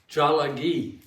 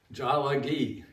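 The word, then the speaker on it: Tsalagi: They call themselves Jalagi. Jalagi.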